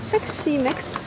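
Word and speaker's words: Xexymix: So I bought what I needed from Tech C Mix, that's how you pronounce it.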